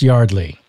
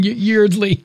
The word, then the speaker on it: Yeardley: It's Yardley. I don't know why I can't stop myself from reading and speaking Yeardley because of the way it's spelled.